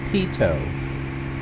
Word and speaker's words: Pitot: back Peto it's a it's pronounced Peto TI t OT is Peto yeah he told